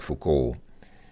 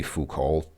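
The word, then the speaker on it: Foucault: and cultural critic um most people I guess I guess people who don't speak French would say fuol but I believe his last name is pronounced fuk or something like that and this guy is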